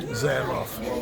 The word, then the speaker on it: Zamoff: Zamoff. And spell it.